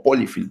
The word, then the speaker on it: polyfill: O polyfill, bueno, no estoy seguro cómo se pronuncia. Vamos a ver qué me dice Translator. Polyfills, dice. Ya, se pronuncia polyfill.